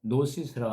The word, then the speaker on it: gnosis: 근데 G가 이제 무음이 돼서 노시스라고 하는데 영지 주의로 할 때는 노스티시즘이라고 이렇게 발음을 합니다.